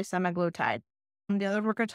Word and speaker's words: semaglutide: but tactical drug semaglutide again 300 different ways to pronounce that I say semaglutide the other we're going